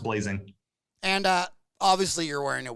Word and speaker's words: Blasing: But it's spelled with an S. So a lot of people say Blasing or Blasing or, you know, butcher it, but it's always been pronounced Blazing.